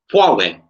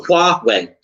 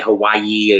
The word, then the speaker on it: Huawei: I say Huawei. I've got their P20. I love their phones. Yeah, so it's Huawei. So Huawei. That's how it's pronounced.